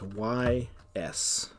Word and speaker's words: Ys: Another game series that I really would like to stream as a single player experience is the Ys series, and that's YS.